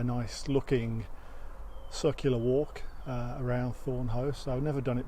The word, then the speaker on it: Thornhaugh: Apart from trying to work out how to pronounce this place, I've always called it Thornhaugh, but it's Thornhaugh.